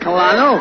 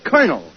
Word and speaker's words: colonel: it's very simple in in military parlance col is pronounced car as a colonel yeah uh don't you